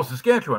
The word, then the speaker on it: Saskatchewan: Oh, Saskatchewan.